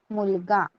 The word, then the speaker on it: मुलगा: कैसे प्रोनाउंस करना है? MULAGA, मुलगा.